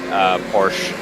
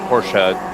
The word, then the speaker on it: Porsche: It's the brand is German. It's you pronounce both. It's not French.